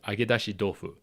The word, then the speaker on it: agedashi dofu: And the T in tofu is pronounced more as a D in this case, and that goes more into learning the Japanese language itself, which I won't get into here.